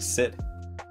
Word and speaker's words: Xid: I did s it's Sid pronounced Sid but it's spelled xid Cal going to cry